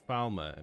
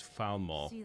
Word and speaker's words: Falmer: I keep mispronouncing Falmore. I keep saying Falmer, but it's Falmore with like a very strong a for some reason I uh Falmore.